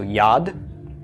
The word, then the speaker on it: yad: on your vocabulary list how would this be pronounced Yod why of the yo'd short a of the comments followed by the D of the Dalek okay so yad yad is a hand